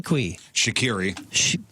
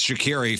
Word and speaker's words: Shriqui: sure is 39 Emanuel Shri shakiri shriqui it's shakiri from Entourage it's spelled Shri and it's that's Sloan